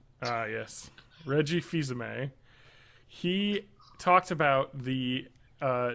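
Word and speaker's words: Fils-Aimé: an interview Reggie uh how do you pronounce it filami the French way ah yes Reggie fizame he talked about the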